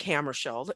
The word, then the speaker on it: Hammarskjöld: So it's Dag Hammarskjöld, and it took me a long time to learn how to pronounce his last name correctly.